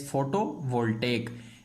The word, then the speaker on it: photovoltaic: You will have to pronounce that word as photovoltaic, and geothermal power.